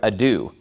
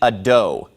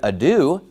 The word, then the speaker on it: ado: find it bizarre that he doesn't know how to pronounce the word ado he pronounces it a dough well obviously if you say a dough no one's going to know what you're talking about but if you say the word ado that's a common word that people have